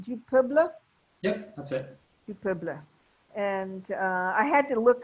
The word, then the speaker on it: Du Peuple: Do you pronounce it Du Peuple? Yep, that's it. Du Peuple.